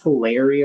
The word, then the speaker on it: Hilaria: I mean, it's hilarial or whatever. It's hilaria. Her name is Hilaria Baldwin.